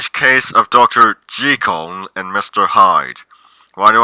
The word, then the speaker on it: Jekyll: Such as those who go around saying Jekyll instead of the correct pronunciation Jekyll.